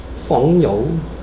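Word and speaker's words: 朋友: 이거 중국 발음을 어떻게 하니? 붕우. 펑여우.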